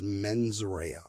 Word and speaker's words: mens rea: And I know my Latin is terrible, but I believe it's pronounced mens rea, which is Latin for malicious intent.